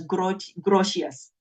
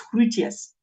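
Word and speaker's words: Grotius: people pronounce him as gr grous but actually the G in Dutch becomes a h so it's crous and he espoused the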